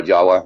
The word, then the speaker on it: Java: is now Sumatra and either Java or Jawa, depending on how you say it, what language, It was all together.